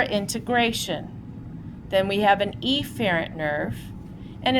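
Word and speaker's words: efferent: remind you we don't the pronunciation is an aerant or eerant but I am going to say it that way because apherrant and epherent sound dangerously close to each other.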